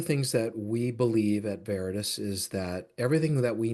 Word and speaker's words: Veritas: And so It's, anything it's, that it's spelled VeritasGroup. And in my brain, I couldn't say it. Veritas, T-U-S.